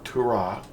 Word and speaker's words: Torah: The word Torah means, or Torah, sometimes they put the emphasis on the second syllable.